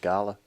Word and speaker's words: Gala: talked to Dave uh and he has a Gayla auction or guy oh is it Gayla or Gala Gayla I always said gala gala G is it I always say Gayla I've always said Gala I also don't pronounce a lot of things wrong there's a